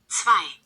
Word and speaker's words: zwei: Like the W would be pronounced as more of a V, so I already know they don't pronounce letters the same. Hold up. Yeah. Zwei, Okay, did zwei, you mean you had zwei.